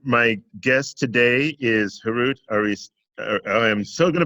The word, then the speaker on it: Aristakessian: And again, my guest today is Harout Aristakessian. I am so going to butcher that. I'm so sorry. Aris, how do you pronounce? I'm sorry. Arista. Aristakessian.